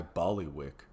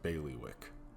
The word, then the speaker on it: bailiwick: Not really my ballywick, but it might be more your speed." It's pronounced bailiwick.